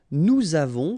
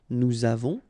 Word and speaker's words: nous avons: Okay, so j'ai, tu as, final S not pronounced, il a, elle a, nous avons, final S not pronounced, and then we make this little link between the two, nous avons, vous avez, a Z